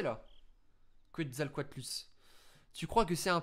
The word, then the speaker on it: Quetzalcoatlus: Ça va les gars, je l'ai bien prononcé là. Quetzalcoatlus.